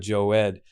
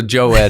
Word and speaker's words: Jowed: to say it right so joe ed everybody says but i don't even think it's right by what it should be because my dad's from syria but yeah uh i